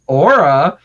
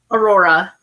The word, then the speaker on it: Aurora: So we have Aura. I can't even say that right. How do you say Aurora? Aurora.